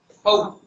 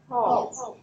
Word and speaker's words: hope: Hope. Hope. Không có hop. Mình hay đọc là hop. It's a long O. Hope.